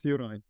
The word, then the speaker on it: Juraj: How do I properly pronounce it? It's Juraj. Ah, Juraj.